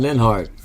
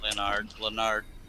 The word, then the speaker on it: Leonard: He always said Linhart. Or something like that. Leonard. Linhart. He got pissed at me